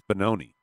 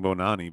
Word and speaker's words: Bononi: keep saying Bonani, but it's Bononi. Well, I can't say Maharaja. Yeah, that's why I Is like he- to he- correct you. It's Bonani, Bononi. like baloney with an N. My Bononi has a first name.